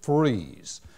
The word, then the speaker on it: Fries: the way it is but they actually pronounce it freeze so you go from gay likes to independence to freeze and then right on